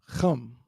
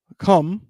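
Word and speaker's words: חם: So it's chum. Chum is the proper pronunciation. Of course, you're going to hear brothers say come.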